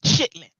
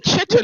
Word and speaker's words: chitterlings: And black folk would pronounce it chitlins. Yeah, that's what I say. I say chitlins. Chitlins. I thought it was called chitlins. I didn't even know it had a different name. It's actually chitterlings.